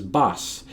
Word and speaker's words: boss: But in both cases, they would pronounce the word boss as bass, and I think they're expecting to hear that. I don't do it. I say boss.